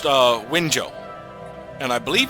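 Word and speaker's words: Wenzhou: This is actually pronounced Winzhou, and I believe it's a province.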